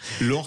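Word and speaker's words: Lohr: Je voulais dire quelques mots sur Robert Lore, le fondateur d'une très belle entreprise alsacienne qui vient de nous quitter, avec qui vous travaillez avec Station E.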